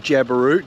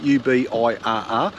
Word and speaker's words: Ubirr: Merl Campground you'll find about 40 k's north of Ubirr.